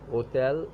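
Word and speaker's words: hôtel: And hotel is a H mute, so it is starting from O, hotel.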